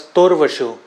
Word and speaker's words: Torvashu: My name is pronounced as Torvashu. Torvashu. Yes, Torvashu.